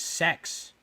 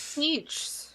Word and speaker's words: Sechs: a character in Battle Angel Alita whose name is spelled Sechs, and then when I said it out loud, I was like, his name is Sex. That's true. It's Siege. Is it Siege?